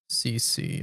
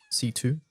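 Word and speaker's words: C.C.: CC, yes. Actually, you guys said it's not pronounced CC, right? It's like 2C or something. C2? C2, right?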